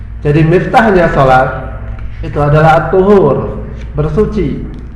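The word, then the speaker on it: الطُّهور: Jadi miftahnya salat itu adalah at-tuhur, bersuci. Bukan tahur ya, at-tuhur bacanya. Kalau tahur itu nanti lain.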